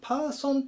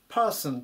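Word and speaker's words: person: に注意ですねよくパーソンというふうにカタカナで書くことあるんですけどもパースンっていう風に発音します人とか個人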